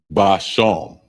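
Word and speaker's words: בשם: And it's spelled Ishab. Ishab. Ashab. And that means herb. Next one is spice. And it's basham.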